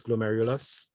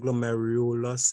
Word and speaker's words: glomerulus: they hear it song so it's glomerulus but in saint glomerulos it sounds kind of like go merry lust your ears will tend